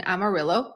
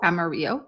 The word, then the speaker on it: Amarillo: But yeah, I do know that in Amarillo or Amaro, depending on how you pronounce it, uh there is a